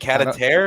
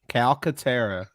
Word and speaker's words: Calcaterra: Cataterra? Catapupu. Calcaterra. I can never pronounce.